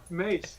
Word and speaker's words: Mace: He's been saying Macy the whole time. It's like I have no idea who he's talking about. Fitt and KR will be nice. Mace. All right, got it.